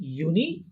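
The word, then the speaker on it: Juni: তারপরে দেখেন জুন, জুলাই, এই দুইটা উচ্চারণ হবে ইউনি, ইউলি। ইউনি, ইউলি। হ্যাঁ, জুন জুলাইকে কি বলবো আমরা? ইউনি, ইউলি।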